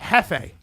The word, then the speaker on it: jefe: Hefe. Hefe. Because it was supposed to be Spanish because the J is silent. Yeah. Actually, it's not silent. It's H.